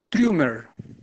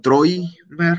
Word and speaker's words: Trümmer: Trümmer. Ah, bueno, ahí sí la pronunciaste bien. Es que ahorita pronunciaste como Troimer, algo así, pero no es.